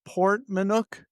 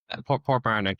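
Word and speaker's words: Portmarnock: Port Manuk. Is that pronounced right? Port Barnick.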